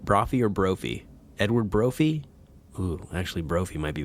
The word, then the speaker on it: Brophy: edward broffy timothy q mouse and i say brothy b-r-o-p-h-y right brother or brophy edward brophy ooh actually brophy might be better that that